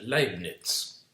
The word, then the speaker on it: Leibniz: hizo como la primera gran defensa, se llama Leibniz, así se pronuncia, Leibniz, que es un filósofo.